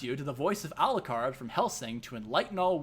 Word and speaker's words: Alucard: has mentioned them but do you think his name is aldocard or arukar his name is alucard no it's not yes it is after all dracula spelled backwards is alucard not arukart it's been this